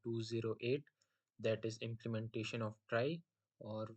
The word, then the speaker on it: trie: so question कहता है कि अ ट्राई, pronounced as try or prefix tree, is a tree